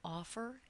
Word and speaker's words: offer: The first syllable in offer is stressed.